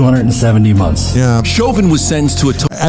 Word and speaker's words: Chauvin: and i like that i say it wrong i keep saying shaving everyone says chauvin shaovin's better man i